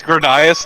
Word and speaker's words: Gradius: It's Gradius, thank you. Just every one of these games should come with a pronunciation guide.